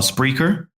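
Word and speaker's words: Spreaker: find me is on spreer and how do you spell that s p r e a k e r correct it's like speaker but with an R yes okay that's is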